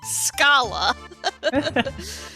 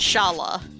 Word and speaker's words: Schala: But there's a lot of stuff in here where it's just like, you know, as someone who is named Schala, I'm very used to having my name pronounced as Shala.